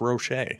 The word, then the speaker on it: Roach: And I'm still going to call him Devin Roach just cuz that's what's embedded into my brain. I've been calling him that before actually finding out his name is pronounced Rocher.